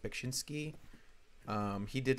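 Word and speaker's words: Beksiński: ] I think it's his name is pronounced bakshinsky um he did like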